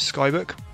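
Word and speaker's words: ckau-book: set it straight so it's obviously it's spell cka auau hyphen book but it's pronounced sky so there you go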